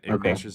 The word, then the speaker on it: Ignatius: Uh so first of all it's pronounced Clement of Rome and Ignatius of Antioch.